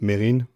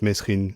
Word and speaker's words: Mesrine: him I remember Missin and it should be pronounced Marin but the media has always referred to him as mesin so that's the name I've always heard so